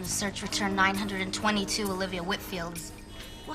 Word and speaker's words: Whitfield: next week and just wanted to get the pronunciation of her last name correct it's Whitfield Whitfield well that's what I thought and how do